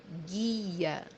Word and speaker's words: guia: which means in Portuguese, guia, guia, guia, as you see here, letter U or U in English is silent. We don't pronounce it.